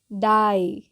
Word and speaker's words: die: हम इसको क्या पढ़ते हैं, आई से बोलते हैं, आई से इसका उच्चारण करते हैं। चलिए एग्जाम्पल देख लेते हैं। DIE, डाई।